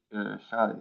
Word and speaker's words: xi: By the way, is it called Kasai, Aaron, or KSI? How do you say it? It's called Shy, yeah, Xai, yes.